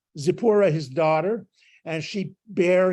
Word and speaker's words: Zipporah: he gave Moses zippura zippura is actually how it's uh pronounced uh it's zipporah his daughter and she